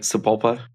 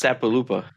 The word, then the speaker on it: Sapulpa: Like Sapulpa. What'd you call me? Sapulpa. But if you sound it out phonetically, it's Sapaloopa. That makes me want Sapulpa.